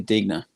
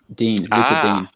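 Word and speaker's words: Digne: uh lucas uh luca digna dean is that brian dean's brother you know what i've never been i always thought with his pronunciation it was this you just silent the uh the g but um yeah look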